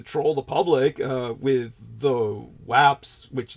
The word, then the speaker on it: UAP: but I don't think anyone ever pronounces it the way that I do, which is the way people in the military would. And that would be WAP.